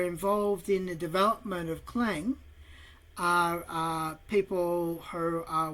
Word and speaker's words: Clang: I'll actually allow people on the server to use clang if they wish because they pretty much clang which is spelled hang on as in c lang.